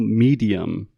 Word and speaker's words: medium: A replaceable medium.